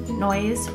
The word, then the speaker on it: Noyes: maiden name is noise you can pronounce it noise or it's actually spelled no yes so when I was